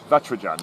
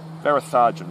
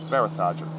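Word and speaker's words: Varatharajan: the break and said, I've been pronouncing your name Vatrajan, and I was basing it on the Indian bowler Natrajan, or Varatrajan. And I said, is that how you pronounce it? She said, not even close. Varatharjan, thank you.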